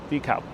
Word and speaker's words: DeKalb: Same thing with DeKalb. That's how they pronounce it here, DeKalb. But the thing is, people